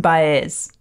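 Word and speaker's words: Baez: channel someone said someone because I said JN baz and they said no no no no no that's not okay you have to say JN bz so Johnny Mitchell contracted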